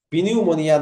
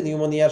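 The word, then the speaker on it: pneumonia: Spelling আছে নিউমোনিয়ার, নিউমোনিয়া, পি এর উচ্চারণটা হবে না, একটু ভালো করে মনে রেখো, পিনিউমোনিয়া নয়, নিউমোনিয়া। মনিয়া বানানটা সহজ, তার আগে নিউ বানানটাই এন ই ডাব্লিউ, শুরুতে পি। তো মনে রেখো যে নিউমোনিয়ার শুরুতে পি আছে, তাহলে হয়ে যাবে।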